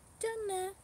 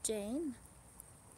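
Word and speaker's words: じゃね: Janne. This is how you say goodbye in Japanese. Janne. Not Jane.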